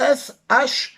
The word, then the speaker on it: share: Si tu cherches le partage et que tu n'arrives pas à le trouver, c'est S-H-A-R-E, share.